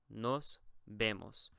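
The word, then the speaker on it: nos vemos: to be said here the v in Spanish is actually pronounced like a B I know that's weird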